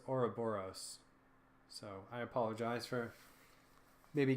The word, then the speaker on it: Ouroboros: the Ouroboros is defeated I've been mispronouncing the boss name I think you've been saying or or I forget how I've been saying it but it is Ouroboros so I apologize for